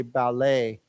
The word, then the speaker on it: ballet: but just remember ballet we do not pronounce the T right we don't say ballet we say ballet okay so ballet right